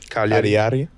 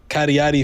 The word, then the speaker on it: Cagliari: But it got even worse when you realize that the club, how you pronounce it? Cagliari.